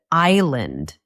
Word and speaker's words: island: For example, the word island. The S is silent.